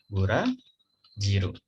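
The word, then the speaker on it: ブラジル: Burajiru.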